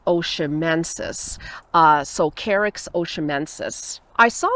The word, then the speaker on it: oshimensis: is the same species I don't really know how to pronounce it but I think it's oshimensis so carrick's oshimensis I